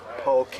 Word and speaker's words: poke: there too as well I ate lots of polka it's pronounced poke a hawaiian-inspired sushi bowling